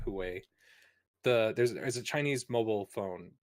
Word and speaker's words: Huawei: I always wanted to call it Hawaii, but I think it's like Huawei.